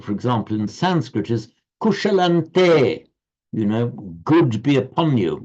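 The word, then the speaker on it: kuśalaṃ te: So you write kushalam anuswara te, but you pronounce kushalante because the following te.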